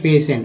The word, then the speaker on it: patient: पेशेंट। उच्चारण P हो रहा है, C हो रहा है